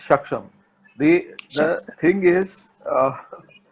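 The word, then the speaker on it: Shaksgam: It's called Shagzam, right? Yeah, it's Shaksham.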